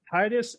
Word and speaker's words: Titus: called titus uh is that correct did i pronounce that correct yep it's tightest talent strategies titus talent strategy and then he's also on youtube